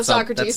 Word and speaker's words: Socrates: It's it's I'm going to mispronounce it but that's fine. So crates. Oh, Socrates.